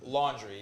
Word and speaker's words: Laundrie: Laundry? Laundry, yeah, it's laundry, like washing clothes.